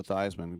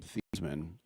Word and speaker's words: Theismann: But the thing that I always point out, and that kills Joe Theismann because he changed his pronunciation from Theismann, literally.